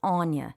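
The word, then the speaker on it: Áine: used in place of Anya. If you need an English version, they use Anne, but Anya is a much older native Irish name, and it's spelled Fada I-N-E, so it looks like Aina.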